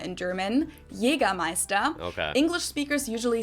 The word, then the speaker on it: Jägermeister: From shoes to alcohol, this is pronounced Jägermeister in German. Jägermeister. Okay. English speakers usually say Jägermeister, which is pretty much the same, just with a pretty thick accent.